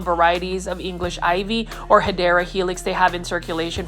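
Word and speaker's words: Hedera: like this helix or what you call the hideera helix, that's the correct way to say it.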